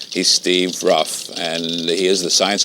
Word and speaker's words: Ruff: And part of it is a man who's called the science buff, which rhymes with his name. He's Steve Ruff, and he is the science coordinator of the Hudson River Museum.